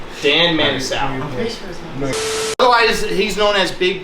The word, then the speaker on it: Manasoiu: Manasoiu. Dan Manasoiu.